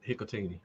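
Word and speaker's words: Hikutini: So I Is it Cole Hikatini? Is that how you say it? That's it, Hikatini.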